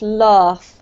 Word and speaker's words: laugh: Just because you have quite a British accent, Carmen, you should elongate this vowel sound a little bit more so it's laugh, okay?